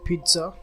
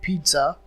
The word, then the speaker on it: pizza: The next word on the list is pizza, that originates from Italian, which is also popular in English. Even though there are two Z in the word pizza, the first letter Z is taken as T when you pronounce the word pizza.